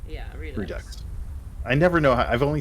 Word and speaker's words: Redux: which is Roleplay Redux, I think that's how you say that, unless you pronounce it Redo. I think it's just Redux. Yeah, Redux.